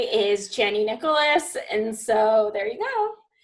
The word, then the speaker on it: Chani Nicholas: And again, everything I give credit to Chani Nicholas because I'm and that is how you pronounce her name.